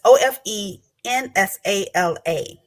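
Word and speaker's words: Ofe Nsala: In Nigeria, for example, sweet potatoes are used for preparation for, I'm going to see if I can say it correctly, Ofi Nasla, and it's Ofenasala.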